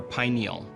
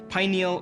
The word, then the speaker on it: pineal: neurotransmitters serotonin and melatonin let's start with the word pineal or pineal both pronunciations are correct pineal or pineal meaning pine